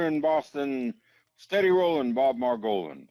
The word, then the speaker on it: Margolin: Boston steady rolling Bob Maran steady Roland rhymes with Mar Goan and he and steady